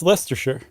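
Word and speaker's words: Leicester: Why is Lester the only one that's not pronouncing the SH? It is. That's Lester.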